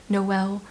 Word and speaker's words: Noel: Christmas time in this town called nol which is the Christmas city and I think like in the month of December they're okay with being pronounced Noel uh so we follow